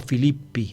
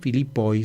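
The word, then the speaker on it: Φίλιπποι: En griego el plural, en la forma de sujeto, es en i, Filipoi, se escribe Filipoi, se pronuncia Filippi.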